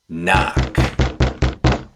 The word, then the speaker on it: knock: The letter K is silent when it's followed by the letter N. Knife, night, knock.